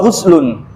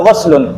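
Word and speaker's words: غسل: Mandi mandi wudu wa guslun. Guslun ya bukan gaslun. Kalau gaslun itu membasuh biasa.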